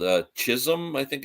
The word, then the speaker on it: Chisholm: this place called uh Chisholm I think it's pronounced it's c-h-i-s-h-o-l-m not his home but Chisholm or something I think